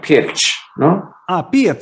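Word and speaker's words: Pirc: okay here's another one we always used to say pick the pick defense but it's not Pig right like there's an accent over the sea it's like pitch yeah I mean yeah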